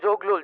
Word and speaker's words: জগলু: গুরু আমার নাম জগলু জংলু না হ বুঝছি তো